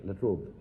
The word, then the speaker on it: La Trobe: I'm deeply grateful to the university, the La Trobe University. Do I pronounce it right? La Trobe.